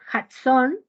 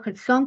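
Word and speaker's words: jazón: profecía viene del hebreo json se lo del hebreo es kade kilo J a Z o n acento en la o qué significa sueño revelación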